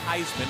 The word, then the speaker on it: Heisman: And yes, it is pronounced Heisman, like the Heisman Trophy.